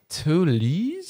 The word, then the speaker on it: Toulouse: Oh, the Toulouse.